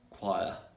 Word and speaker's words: choir: So for example, in the words character, chorus, choir, eco, anchor, yeah. Sometimes the letter H is silent when it comes just after the letter W.